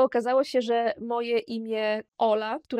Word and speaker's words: hola: Co prawda, na początku pisze się je z literą „H”, jako „hola”, ale czytamy je jako „Ola”, ponieważ „H” w języku hiszpańskim jest nieme.